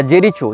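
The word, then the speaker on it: Jericho: इसने जेरिको या जेरीचो जो भी इसका उच्चारण उन भाषा में किया जाता हो जे ई आर आई सी एच ओ जेरीचो या जेरिको जहां तक जेरिको होना चाहिए उच्चारण ये फस्तीन का प्रांत माना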